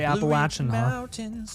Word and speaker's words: Appalachian: So, locals say Appalachin, I'm pretty sure.